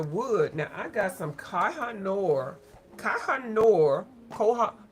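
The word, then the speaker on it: Koh-i-Noor: So, okay, for the wood now, I got some kahanor. Kahanor. Koha. Kohhanor is really how you say it.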